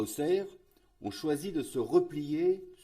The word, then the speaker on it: Auxerre: projet en lui même auxerre malgré un x dans le nom se prononce auxerre situé au sud de